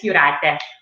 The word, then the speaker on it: Jurate: It said in Lithuanian, all of the J's sound like a Y, which is similar to Spanish. Yes, that's why my name, usually everybody says Jurate, all kinds of things. But yes, it's Jurate because it's silent.